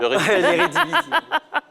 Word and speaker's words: Eredivisie: L'Eredivisie. Vous avez bien prononcé.